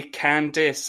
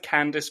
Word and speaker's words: Candice: i need a drink you say candice and i say candice candice candies who knows what it is but let's go with candace because candice is quite hard work on the on the tongue she is candy to